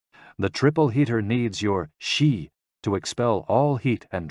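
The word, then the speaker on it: 嘻: And XI, pronounced like shi, which connects the whole body.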